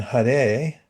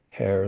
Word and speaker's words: Hare: And Hare, not pronounced hare like a rabbit, but Hare, the spiritual energy of the original conscious source.